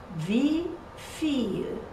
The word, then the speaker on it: wie viel: But also in wie viel. Wie viel. How much? Wie viel. You see, two long syllables.